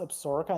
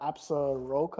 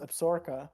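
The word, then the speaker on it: Absaroka: don't know do you actually know why it's pronounced absorka and not absoroka or yeah why is it why is it pronounced absorka well like we said in the video it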